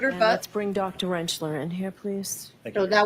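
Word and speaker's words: Rentschler: Could you please state your name for the record and spell it? Uh, Dr. Wrenchler.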